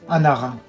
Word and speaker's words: Anara: comment on peut prononcer votre nom mon prénom se pronce très facilement Anara ou pvezv vous présenter votre âge où vous vivez je m'appelle Anara je vis au Kazakhstan la ville de almati